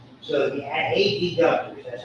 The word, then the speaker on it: adductor: You always say adductor. You always pronounce there's adductors and abductors. When you're adducted, you bring your parts into the midline. When you're abducted, we say it just like that.